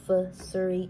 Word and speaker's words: Fazuri: It's Fazuri, not Fazuri. It's Fazuri.